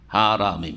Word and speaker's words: হারাম: হারামিম, হারাম শুদ্ধ উচ্চারণ, হেরেম নয়, হেরেম শরীফ, আল মসজিদুল হারাম।